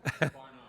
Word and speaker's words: Barnard: Your last name, is it pronounced Barnard or Barnard? Second syllable or first? Barnard. Barnard. Okay, second, stress on second syllable.